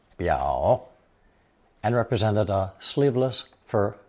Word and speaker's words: 表: It's pronounced third tone 表 and represented a sleeveless fur vest worn over 裘 on formal occasions.